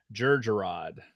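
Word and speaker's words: Jerjerrod: Bader and hey Leon nope it is Moff Georgia rod how do you spell it with a J sure Georgia rod that's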